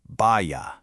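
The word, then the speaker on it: भय: The word is bhaya. It's pronounced bhaya.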